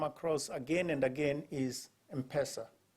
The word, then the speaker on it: M-Pesa: again and again is empresa now the pronunciation depends on who you are when I went back home after 20 years in the the IMF I would call it something else m-pesa you know the m and